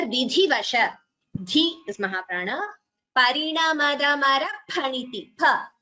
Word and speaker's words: phaniti: So this particular letter in Sanskritam we pronounce it as pa. For example, phalam, fruit. So we don't say fa. Those who have studied Hindi and those who are conversant with Hindi, sometimes they tend to pronounce it as fa, but please note we do not say fa, we say pa. So this letter is pronounced as phaniti, pa.